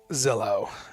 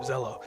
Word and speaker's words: Zello: so let's talk about Zillow it's pronounced hello with a Z is ello and Bill Moore is a CEO of Zelo like I saluted in